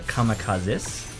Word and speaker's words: kamikazes: So they're kamikazes yeah. of sorts. Well, actually, you know that it's actually pronounced kamikazes, and it means divine wind.